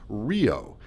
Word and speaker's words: REO: believe it or not the letters REO in connection with our brother's car company were pronounced Rio and did not get